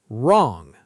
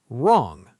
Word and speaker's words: wrong: Wrong. Say it. Wrong. The W is silent.